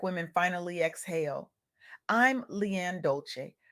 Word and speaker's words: Dolce: I'm Leanne Dolce, pronounced dol-say like sweet softness whispered in French.